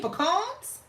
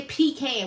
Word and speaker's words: pecan: You mean pecans? And no, we don't say pecan, we say pecan.